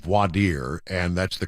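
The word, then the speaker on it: voir dire: grew up all the defense lawyers called it board Dyer we're in a board Dyer of the jury but it's called wadir and that's the correct pronunciation I I learned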